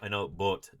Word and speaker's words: Boot: I know, Boot, das Boot. It would be the German pronunciation.